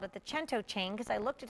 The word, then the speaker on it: cento: I called it the chento chain because I looked at him and said okay so how do you say a hundred in Italian he said chento that Cento chain which